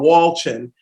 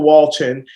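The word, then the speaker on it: Wolchin: And that's from Rachel, and I believe it's pronounced Walchin. Rachel Walchin.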